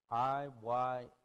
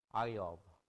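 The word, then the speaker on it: איוב: It is Iyov. Iyov. That's how it's said in Hebrew.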